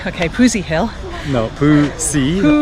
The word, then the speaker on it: Phu Si: Your pronunciation is not right. It is Phu Si. Phu Si? Okay, Phu Si Hill. No, Phu Si.